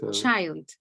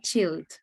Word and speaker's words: child: or the other and the pronunciation of child just said chilled and you said it a lot of times in the conversation so keep that in